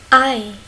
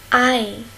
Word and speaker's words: Ei: Ei. Ei. Ei. On a ici et i. C'est ei. Ei, c'est l'œuf.